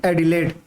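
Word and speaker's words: Adelaide: South Wales की capital है यहां पर, ठीक, इसको बोलेंगे, मैं लिख ऊपर दे रहा हूं, इसको बोलेंगे एडिलेड।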